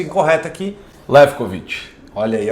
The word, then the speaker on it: Lewkowicz: para ele falar, porque talvez eu fale a pronúncia incorreta aqui. Lefkovic.